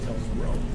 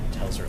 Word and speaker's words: Telzrow: Telzrow. Telzrow. That's right. Fix that. 2 syllables. It's going to start any second now. Not low. Telzrow. Telzrow. Gotcha. You got audio? Telephone in row. Telzrow.